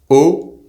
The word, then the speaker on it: haut: The words in French for WATER, UP, and the preposition AT singular and plural are pronounced exactly the same way. So, WATER is EAU, UP is HAUT, and AT is AU, or AUX plural. It’s also the same as the letter, O.